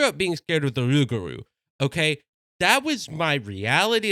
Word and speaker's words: rougarou: And it, in true Cajun fashion, rougarou is Cajun people being too lazy to pronounce something correctly.